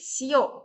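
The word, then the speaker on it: 塩: Garam itu bahasa Jepangnya shio. Dibacanya shio.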